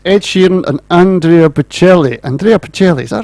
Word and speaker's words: Andrea Bocelli: Andrea Bocelli, is that right? Is that how you say it? Andrea Bocelli. Yeah. What You say it, David? Andrea Bocelli.